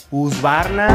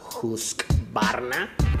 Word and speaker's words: Husqvarna: mal esta marca que no es usar nada no es juzgar nada y varna go pero la pronunciación correcta es justa pues las marcas de